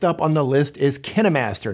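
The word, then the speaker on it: KineMaster: on the list is kenimaster not pronounced kind Master contrary to what you may have heard Elsewhere on the Internet kenimaster is is a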